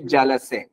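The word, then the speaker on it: جلسه: اردو میں جلسہ بولتے ہیں لیکن فارسی میں اس کا تلفظ جو ہے میشه جلسے.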